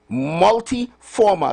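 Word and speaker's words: multiforme: h e m a multi-formal like m u l t i f o r m e but it's pronounced former.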